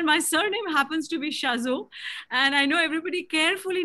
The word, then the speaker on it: Chazot: surname happens to be Shazo, and I know everybody carefully navigates around it because it's difficult to pronounce. So it's just my husband's is French, and therefore the T is silent, but otherwise it doesn't really matter.